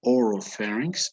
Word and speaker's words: oropharynx: Here we have the oropharynx and hypopharynx.